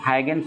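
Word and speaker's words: Huygens: थोड़ा प्रोनाउंसिएशन थोड़ा गलत दिया हुआ है, आप सुधार लेंगे, हाइगेंस होगा इसमें, ऑप्शन नंबर सी हो जाएगा।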